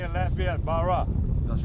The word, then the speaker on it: Barras: Captain Barras, and like they say in Lafayette, Barra. That's right. That's the way you do it? Yeah. A lot of people pronounce it Barras because of the way it's spelled, but it's actually French.